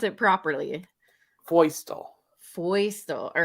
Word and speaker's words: Feustel: i'm all how do you how do you pronounce it properly voicetall foisto all right yeah no i totally would have